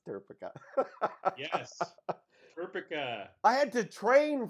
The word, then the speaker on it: turcica: that's how you pronounce it that's how you pronounce turcica yes I had to train for that because